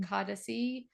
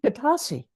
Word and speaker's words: Katasi: want to mispronounce it kadasi tradition katasi katasi thank you tradition yeah it has an unusual accent to it everybody always pronounces it wrong but it is simple it's just katasi katasi yeah katasi means balance